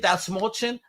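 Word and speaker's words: Dastmalchian: He goes, that small chin, and that's how you pronounce my name.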